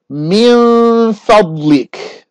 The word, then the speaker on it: من فضلك: And so when I pronounce it now, I'm not going to say the noon. Min fadlik. All I did was prepare the next letter, which was the fa.